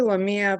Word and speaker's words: Lamia: ask your question hi sorry it's actually lamia but um a lot of people usually get it wrong so it's okay um